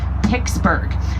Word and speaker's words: Pittsburgh: even some pittsburghers will pronounce our city's name pittsburgh as in picking guitar strings picking something out of your teeth pittsburgh i told you it's